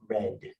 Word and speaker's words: read: I never read The Lord of the Rings. Okay, pronunciation, Natasha? Red, like the color red.